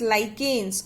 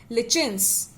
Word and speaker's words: lichens: combinedly algae and fungus known as lichens, or you can say lichens. Lichens and lichens, both are the correct pronunciation. You can go with any one, lichens or lichens.